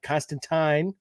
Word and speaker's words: Constantine: So again, if you're a Constantine rhymes with swine fan and a Spurrier fan, this is definitely must read stuff.